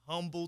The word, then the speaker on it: Humble: Humble, yeah. Come on, you know the H is silent.